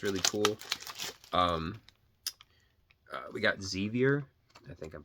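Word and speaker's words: Xevious: different plug-in plays and zevious not zor zus uh so there's that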